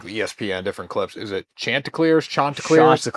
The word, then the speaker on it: Chanticleers: Is it Chanticleers? Chanticleers? Chanticleers. Chanticleers. Shot. Shot. Shot. on ESPN was saying it wrong. Chanticleers.